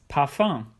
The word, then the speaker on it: Parfum: And or tum, for example, das Parfum, which is pronounced in a French way because it comes from the French language.